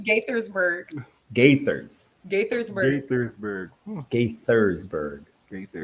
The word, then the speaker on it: Gaithersburg: Gatorsburg? It's, Gaithersburg? it's Gaithersburg.